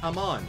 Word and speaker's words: Iman: Iman says, my name is pronounced Amon. Oh, okay. Sounds like Ahmad.